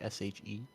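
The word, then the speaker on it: sidhe: he say she mockery s-h-e he did say she but that's not how you spell it s-h-i-h oh yeah like a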